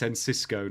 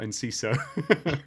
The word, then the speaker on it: Enciso: It's Enciso, not Enciso. Yes, Enciso. Fair enough. My bad if I pronounced that one correctly.